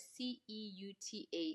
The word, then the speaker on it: Ceuta: In any case 49,000 migrants crossed the border into Ceuta. Um this is how you pronounce it in Spanish, but you write it c e u t a. So in English we would say Ceuta, but then it's Ceuta.